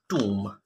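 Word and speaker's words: tomb: रहा था हमारे पास टूम ओ एम बी टूम इसका बी जो है वो साइलेंट होगा तो ये टूम होगा टूम ठीक है नेक्स्ट है हमारे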